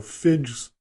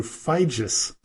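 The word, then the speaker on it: Figes: was mistaken when I called him professor Orlando figs or fidgets but it is pronounced Orlando feige's sorry for that now on with the show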